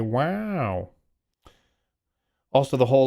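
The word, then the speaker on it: WAU: just sounds so stupid it's calling it wow because it's spelled w Au so you just kind of have to say wow also the whole like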